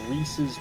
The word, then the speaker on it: Reese's: It's like when people call it Reese. It's like it's Reese's pieces. It's clearly Reese's and not Reese's.